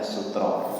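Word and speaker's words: سترة: Sutra atau sutra macam sutra ya. Karena dalam bahasa Arab bacanya sutra, sutra salat.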